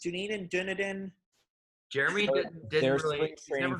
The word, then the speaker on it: Dunedin: Floridians, how's it pronounced? Dunedin.